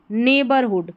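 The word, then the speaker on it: neighbourhood: ये है ने बर, यहाँ पर GH साइलेंट है तो नेबर, और HOOD हुड, नेबरहुड। पूरी स्पेलिंग बन गई नेबरहुड।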